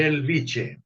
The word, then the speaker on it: Bellvitge: ¿Así se pronuncia? Bellvitge. Belviche, Belviche.